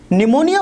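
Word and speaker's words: pneumonia: जो बीमारी होती है बहुत सारे वर्ड्स होते हैं जिसमें कि हमारा साइलेंट होता है तो यहां पर भी हमारा क्या है साइलेंट अपील फाइल है तो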